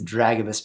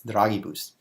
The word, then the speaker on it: Dragibus: You know, the cool thing about that is this Dragobus Pedro guy, it's not being pronounced correctly, it's Dragibus, is, he's named after Mario Draghi, who is famous.